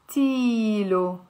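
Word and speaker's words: قلتيلو: So inte ilte plus lo, we're not going to say inte ilte lo. We will say inte iltilo.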